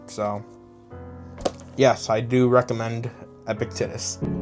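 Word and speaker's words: Epictetus: So yes, I do recommend Epictitis. I'm trying to say his name, Epictitus, which I know is the right way, but Aectitus just sounds so much more cooler, bro.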